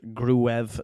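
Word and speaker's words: Gruev: G confirms definitely that a surname is pronounced grev not g as been suggested new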